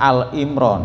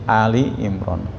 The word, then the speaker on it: Ali Imran: Jadi bukan Al Imran ya, tapi Ali Imran.